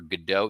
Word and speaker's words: Godot: Got to see Waiting for Godot. They pronounce it Gatto for some reason in this performance, which is odd.